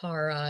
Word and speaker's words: Kara: then like somebody else was like, it's actually Kara, and I took that to heart. I also feel like I'll flip between pronunciations just on what my brain decides to say.